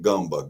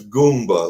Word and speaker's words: Goomba: people kept pronouncing it gumba. Gumba. Well, it's Goomba like the Italian Goomba.